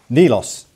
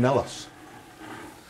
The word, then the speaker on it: Nilos: Nilos. I give you. I used to call him Nellos. Well, I asked Sam and he said that's how you pronounce that one.